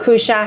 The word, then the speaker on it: Cuccia: I'm here today with Cuccia.